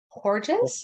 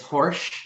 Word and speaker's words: Horsch: John Horges, is that right? It's Horsch is how you pronounce Horsch.